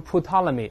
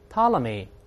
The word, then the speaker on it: Ptolemy: 发音的，不要读成 Ptolemy，他不这么读哦。P 不发音，大声来一遍 Ptolemy 就是托勒密这个人啊。